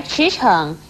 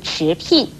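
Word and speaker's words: 驰骋: 成聘婷，而驰骋也不可以念成驰聘。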